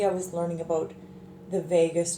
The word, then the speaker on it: vagus: was learning about the vagus nerve not spelled like Vegas but V AG us and so that's the